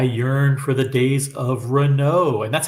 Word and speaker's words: Renault: you uh I yearn for the days of Renault and that's how it's pronounced by the way it's not pronounced Renault it's fren so Rena is a good brand